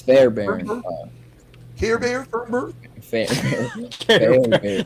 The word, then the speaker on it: Fairbairn: At number 4, we have, how do you say that? Is it It's Fairbairn.